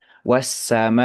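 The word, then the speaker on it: والسماء: kita, kira Imam Hafiz, itu membacanya ya dengan 4 harokat. Ya. Wassamai, seperti itu.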